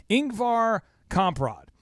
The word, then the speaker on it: Ingvar Kamprad: there and it'll play his name but it's Inc var comp rod and this guy was born in 1926 and